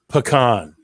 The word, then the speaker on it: pecan: the pecan capital of the world it is pronounced pecan did you did you drive truck oh you